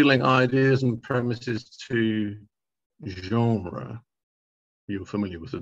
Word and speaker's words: genre: really an english word it's a lone word it's completely a french word and we kind of almost have to pronounce it in a french way genre i don't know how it would be pronounced in them in a more british way genre but anyway we don't